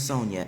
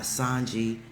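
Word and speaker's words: Sonja: My name is Sonia. S O N J A. Not Sanji. Not Sanja. Not Sanji.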